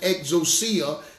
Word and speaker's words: exousia: That Greek word in Matthew 10 and 1 is exousia. Or some people pronounce it exousia.